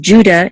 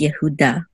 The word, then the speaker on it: Yehuda: And of course, the accent mark is on da. This is the accent right here. Instead of Judah, it's Yehuda. But yes, this word is.